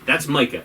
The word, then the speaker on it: Micah: His name is spelled M-I-C-A-H. We watch with captions on. It's spelled M-I-C-A-H. That's Micah. It's always been Micah. Why is his name Mika?